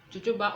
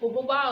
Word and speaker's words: jojoba: So our base oil is going to be jojoba oil, or as is known commonly, jojoba oil, but jojoba oil is the correct pronunciation.